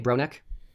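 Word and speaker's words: Bronek: Am I pronouncing that right? Uh, yes. B R O N E K. Bronneck.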